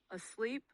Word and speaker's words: asleep: Some exceptions include asleep, machine, and hotel, which stress the second syllable.